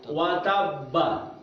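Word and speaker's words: وَتَبَّ: Itu hurufnya bertasydid. Ba-nya bertasydid. Maka cara bacanya tabbat yada abi lahabin wajab. Ditahan 2 harokat. Wajab. Jangan buru-buru wajab. Salah ya. Wajab. Ditahan dulu 2 rakaat, baru qalqala b.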